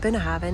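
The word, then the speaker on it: Bunnahabhain: buena haven distillery so that is how you pronounce it been having i'm gonna walk over this way just to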